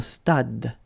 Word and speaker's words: stade: Same thing here. Final is not pronounced. Un stade.